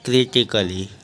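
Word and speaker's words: critically: आई सी A double L वाई इसको पढ़ेंगे क्रिटिकली अगला है आर ओ एम ए एन टी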